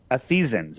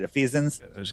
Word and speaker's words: Ephesians: Ephesians. Am I pronouncing that right? Ephesians.